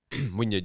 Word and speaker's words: Wynyard: The last time we did Wynyard, am I saying it right? Wynyard, yeah.